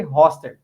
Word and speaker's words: Hostert: Se eu estiver errado mas eu imagino que a pronúncia seja hostel você vê isso é isso incrível nunca vi alguém acertar meu sobrenome de primeira tá vendo cara eu